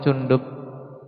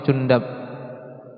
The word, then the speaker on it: Jundub: Beliau juga seorang tabiin yang di sini mengambil riwayat dari Samurah bin Cundub. Boleh membaca ikhwan. Samurah bin Cundub. oleh Samsurah bin Jundab. N ada dua cara baca untuk Jundubnya. Sedangkan riwayat kedua, sahabinya Almughirah bin Sy'bah Ibnu Abi Amir radhiallahu anhu.